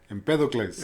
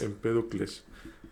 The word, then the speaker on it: Empédocles: Empédocles. Empédocles. Tiene acento en la E, tienes razón.